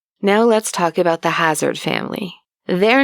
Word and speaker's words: Hassard: I can safely say it was pronounced a hazard because I think people back then spelled phonetically right A lot of